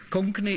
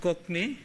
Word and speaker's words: Konkani: or ten minutes on Konkani company is so pronounced in India but in South Africa it's actually pronounced cockney but that version from cockney that's a different vowel cockney and this means the